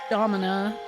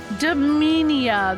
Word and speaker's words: Dominia: Throne is Talone, Seraphita, and Domina. Dominia, that's right. I was saying, and I'm still saying it wrong.